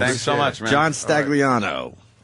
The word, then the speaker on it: Stagliano: so much man John stagliano right no the g is silent it is right Mars